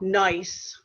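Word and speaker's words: gneiss: slate or schist or the rock nice where the g is silent or marble this is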